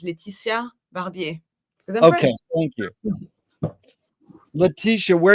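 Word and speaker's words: Laetitia Barbier: Uh, in in English I will pronounce it in American I will pronounce it Leticia Barbier, but I will not. My name is Leticia Barbier.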